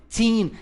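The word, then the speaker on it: fifteen: Então, dos 13 ao 19, 15, tá, a sílaba tônica está no teen, exagere para o cara poder entender você.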